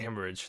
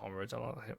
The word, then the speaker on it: hemorrhage: is it's a brain hemorrhage that's it it's Hemorrhage not homage Hemorrhage I don't know what where I